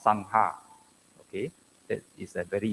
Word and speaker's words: Sangha: is a wrong pronunciation is actually s-a-n and g-h-a as if two separate words so it should be pronounced as Sangha not Sangha okay that is a